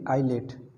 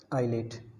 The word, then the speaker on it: ILATE: तो कुछ इन्फॉर्मेशन देखते हैं हम एक वर्ड यूज़ करेंगे आईलेट। क्या बोलेंगे? आईलेट, ठीक है। क्या स्पेलिंग है?